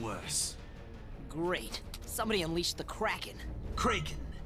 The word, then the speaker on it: Kraken: great somebody unleashed the Kraken kren it is pronounced kren kren unleash the Kagan